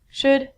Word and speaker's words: should: pronunciation on ink vidcom all of these l's are silent so it sounds like should good and the thing